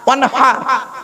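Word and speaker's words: وانحر: ওয়ানহার এই গলার ভেতর থেকে হেটা উচ্চারণ করবেন, ফাসাল্লি লিরাব্বিকা ওয়ানহার।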